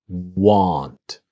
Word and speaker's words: want: But want is different, that this part here comes down. Want.